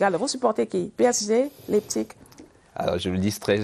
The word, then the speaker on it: Leipzig: Merci, et je crois qu'on dit Leipzig. Leipzig, tout à fait.